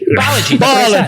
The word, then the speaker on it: Balaji: Listen, Greek names are hard to pronounce. I mean, Indian names, It's fine. Balaji Sri Lankan Srinivasan. names. Balaji. Everybody gets that right. Balaji. Balaji.